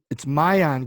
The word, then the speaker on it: Maayan: So it's Maayan, but it's not. It's spelled M M-A.